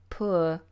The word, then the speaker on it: poor: poor versus / now in British English these are now pronounced the same he used to be in the old days that this one would be pronounced differently with a diphthong poor poor but now it's just one long vowel sound or I'm poor I